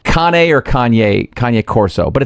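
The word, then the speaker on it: Cane Corso: It look it's written Kane Corso, but it's pronounced Kane or Kanye. Kanye Corso.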